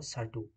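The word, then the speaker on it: Certeau: Mitchell D সার্টিউ ওকে এটা কার্টু বলে হয় না এটা সার্টি উচ্চারণ হবে ওকে ঠিক আছে চলে যাচ্ছি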